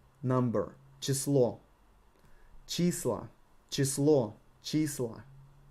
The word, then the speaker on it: число: Число, number, число. Числа, число, числа. You need to stretch and raise your voice on the emphasized letter.